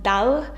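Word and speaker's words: da l': The rule is we write dali separately, and there's another form, dal, actually where you delete the I towards the end and then add the apostrophe, and it's pronounced as dal.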